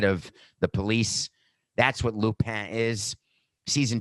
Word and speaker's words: Lupin: Lupin is how to say it.